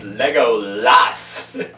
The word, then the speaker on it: Legolas: It is Legolas! You mispronounce it just to aggravate me.